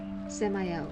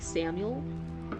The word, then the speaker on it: Samael: Samael is how I say it. Okay, so I wasn't completely off base. Sometimes it's like, some people say it's like Samuel. It just is spelled funny. I'm like, no, it looks like it should be Samael. Like, it looks like it should be said a little bit differently.